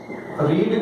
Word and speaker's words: read: रीड की third form होती है रेड, स्पेलिंग सेम होती है।